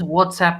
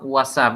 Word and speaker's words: WhatsApp: Ujú, Do you use WhatsApp messaging? Mm. ujú. Sí, que la gente siempre lo pronuncia mal, ¿eh? It's not WhatsApp, it's WhatsApp. WhatsApp.